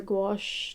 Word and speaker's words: gouache: i'm working on a different medium today spelled g-o-u-a-c-h-e but pronounced as gouache i start drawing a circle